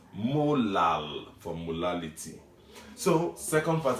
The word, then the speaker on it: molal: as 0.25 capital m that capital m is pronounced molar unlike the small m that we saw in the previous video which was mo lal for molality so second